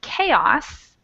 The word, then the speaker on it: chaos: And then we have a couple fun words like chorus and chaos that use the CH to be a hard C sound.